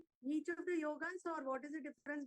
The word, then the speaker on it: yog: and it spell as y o g a people pronounce it yoga that is wrong the yog should be the pronounce whatever you write